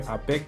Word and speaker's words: APEC: last week we had the APEC, is how we pronounce it here, APEC, which is like a